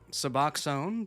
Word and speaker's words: Suboxone: me go look these up so I can pronounce them correctly. Okay, that was right. Suboxone, buprenorphine.